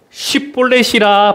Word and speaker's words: 십볼렛: 그에게 이르기를 십볼렛이라 발음하라여 에브라임 사람이 그렇게 바로 말하지 못하고 십볼렛이라 발음하면,